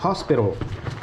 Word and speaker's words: hospital: Ici il prononce hospital. Bizarre. H O S. Hospital. L'ospace. Hospice c'est chaud. Le H est prononcé.